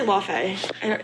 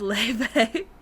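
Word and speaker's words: Laufey: Wait, Leve? Yeah. I say LaFay. Is that how you say it? No, it's Leve. She's Icelandic.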